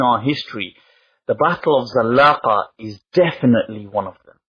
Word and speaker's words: Zallaqa: Then we'll move on to something which is known as the Battle of Zallaqa. In Spanish, Sagrajas, I believe they pronounce it as, but it's a place in which a battle occurs in the year 1086.